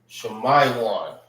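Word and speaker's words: שמעון: Shemaiwan. All right. That's how you say Simeon in the Hebrew.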